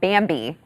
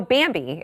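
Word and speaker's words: Bambee: But first, I want to talk to you about Bambi.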